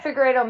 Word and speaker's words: Figueiredo: Yeah, I mean, it's too bad that how do you say Figueiredo? Perfect. It's too bad Figueiredo missed weight on their first fight because it